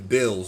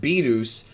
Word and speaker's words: Beerus: When the movie first came out, I remember people called him Bills, and that's an incorrect way to say his name, but it's one that is actually official in the Spanish dub because they felt like Beerus sounds too much like